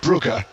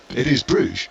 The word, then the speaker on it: Brugge: I said to him, went through all the various pronunciations, and at the end he said to me, and of course it's Club Brugge. To which I said, well, in the anglicised form, it is Bruges.